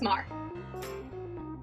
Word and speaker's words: Maher: you join is that you spell your last na your last name m-a-h-e-r but it's pronounced mar correct that's right yep